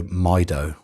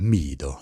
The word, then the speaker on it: Mido: had to look up how you say mido i would say my dough but it is middle so so you you got to make sure when you're talking about your watch to someone you're saying it right so here's my dough it's just it's like what's a my dough meadow if you say yeah you've got to do it with a spanish accent mido it just sounds better